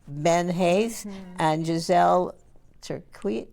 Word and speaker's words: Tircuit: And we're going to have people like Ben Haith and Gizelle Tircuit. Tircuit. I yeah. said it right. Tircuit, you got it, yeah. To lead us in that very important work Well, of I like history.